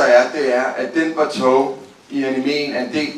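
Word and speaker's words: Batou: Nu siger du Batu, men jeg kalder ham jo Bato. Ja, fordi det siger du, han skal udtales om, og der ved du mere end mig. Ja, han hedder Bato af den simpel årsag, at det har fået at vide de japanske producenter, det hedder han.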